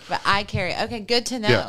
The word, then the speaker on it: Iaccheri: It's in English, it's I carry. Like I carry my phone. Oh, that's so easy. It's very simple. But remind me how you spell it. IACCHERI.